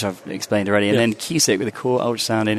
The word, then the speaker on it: CUSIC: I think we've historically we had FICE, which I've explained already, and then QSIC with the core ultrasound in intensive care, which is say that again slowly. QSIC, core ultrasound. Spell it for us.